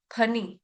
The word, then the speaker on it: फणि: फिर है फनी फनर्पित फनी पी एच का साउंड आना चाहिए। फन फन नहीं बोलेगा कोई फन नहीं है यह फनी फनी फन पित फनी फन पितन फल नहीं है यह फ से फल नहीं है यह है